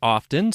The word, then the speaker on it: often: common word to use according to Mariam Webster the t is typically silent but has made a comeback in Modern English that's right miam Webster